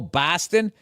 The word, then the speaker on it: Boston: and they go oh Boston it's like that's how people from the Midwest say it right so BOS becomes b a w b like saw right job is say